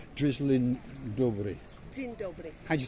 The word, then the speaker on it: Dzień dobry: So I'm going to say to you, drizzling dobra. There we go. What? Sizzling dobra? That's my pronunciation for good morning in Polish. Dzień dobry. Dzień dobry.